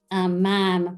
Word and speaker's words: ma'am: Yeah, like it resonated, and like they sent letters home that said, "Please ask your daughters to practice saying ma'am that rhymes with jam."